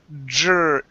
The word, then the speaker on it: drink: So here, instead of saying drink, okay, pronounce a J sound. Okay, the word is drink, drink. Drink. Okay, almost. So kind of like the word job here. Okay, so it's j, j. Okay, so we're going to pronounce a JR, drink.